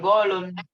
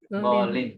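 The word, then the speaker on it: غالٍ: Jadi bukan golun, tapi golin, gitu ya.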